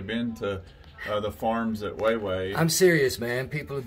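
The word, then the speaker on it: Huehue: Weiwei, that's how that's pronounced. Yeah, and it's considered one of the... I've been calling it Hugh Hugh.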